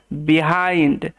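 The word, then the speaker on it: behind: আছে দা Wolf stood বিহাইন্ড নেকরেটি দাঁড়িয়েছিল পেছনে এখানে আই এন ডি আই এন্ড হিসেবে উচ্চারিত হয় দা হর্স কার পেছনে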